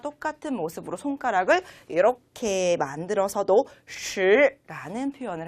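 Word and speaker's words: 十: 시 라고 읽으시면 되겠습니다. 네, 우리가 이렇게 발음을 할 때 조금 혀를 동그랗게 말아주시는 거 잊지 마시고요.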